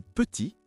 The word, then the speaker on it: petit: C'est la même chose pour salut, le thé est muet ou petit, le thé est muet au masculin.